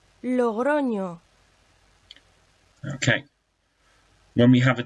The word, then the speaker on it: Logroño: It's an Nye, and it makes the sounds of N and Y together, like in the English word canyon. Again, listen to the example. En español, Logroño, Logroño.